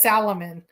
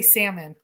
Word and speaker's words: salmon: Um, does he pronounce the Len salmon? That's a big thing in our household. Mike says salamon and I say salmon.